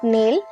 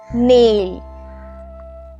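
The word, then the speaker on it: nail: flower vase flower vase পেরেক নেইল নেইল নট নেল নেইল উনুন oven oven oven নয় oven চিরুনি কোম কোম দেখো বি সাইলেন্ট আছে কোম ওকে চশমা স্পেক্টটাকেলস স্পেক্টটাকেলস তোষক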